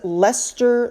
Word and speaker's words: Leicester: I believe it's pronounced London's Leicester Square.